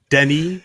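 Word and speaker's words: Denis: the streets of perry with denny which is how you say dennis in french by the way wow i'm quite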